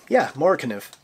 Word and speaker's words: MORAKNIV: MORAKNIV.